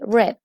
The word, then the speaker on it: read: Recuerden que esa es la pronunciación correcta de este verbo en participio, read.